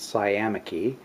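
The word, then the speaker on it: sciamachy: first environment okay look looked up the word it is in fact pronounced Siam icky and the definition that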